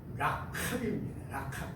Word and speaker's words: 라합: 엄청 이 여인을 높이는데 꼭 거기다가 기생 라합, 원래 말은 라캅입니다. 라켈, 그 히브리 사람들만 발음하는 그런 발음이 있어요.